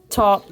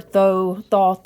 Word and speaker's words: Thoth: more hermetic, more occulted, like taught or thoth, however you like to say that. Everybody gets real high and mighty about how they pronounce that word.